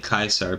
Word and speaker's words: Caesar: autistic Twitter user no we're talking about uh Caesar as in like c a e s a r I'm just saying Kaiser because that's the way you're supposed to pronounce it it's it's just the way that